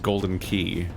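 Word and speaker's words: Galdin Quay: it's spelled like galden quay and it's about pronounced golden key and i'm like oh you guys are being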